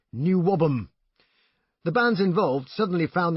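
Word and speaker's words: NWOBHM: was a Preposterous title shortened to the equally incomprehensible n w o b h m pronounced new wobham the bands involved suddenly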